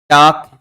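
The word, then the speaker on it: talk: लोप हो जाता है टाक वाक और चाक इसके अंतर्गत समानता प्रकट करता है कि तीनों के अंतर्गत अंत में एल के लिखा हुआ है और इनका उच्चारण करेंगे तो एल साइलेंट रहता एल का क्या हो जाता है?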